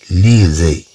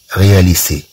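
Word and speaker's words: réaliser: لو فيرب رياليزي، إذا طبعا عندنا أس بين دو فويل، مثلا لو فيرب رياليزي تنشوفو اس بين اي وبين او، اذا طبعا لا نقراها هنا رياليسي، اذا رياليزي طبعا هنا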